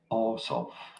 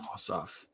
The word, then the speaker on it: Ossoff: election in georgia how do you go about pronouncing his name john orsoff john ossoff here we go hello this is senator john